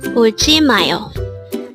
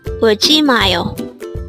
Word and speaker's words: 울지마요: 울지마요. This is pronounced as a 4-syllable word.